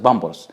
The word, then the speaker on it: Pampers: Number three, Pampers. Of course, Egyptians do not pronounce it pampers, but we pronounce it bumbles.